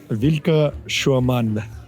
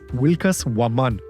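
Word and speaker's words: Vilcas Huamán: the discoveries welcome to vilka Shuan it's a really small town here in Peru the actual pronunciation was wilas waman which in the Keta language means sacred Falcon the Ina culture revered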